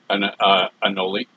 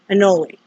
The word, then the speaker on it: anole: How do you pronounce what they are? What kind of lizard? Anole. Anole.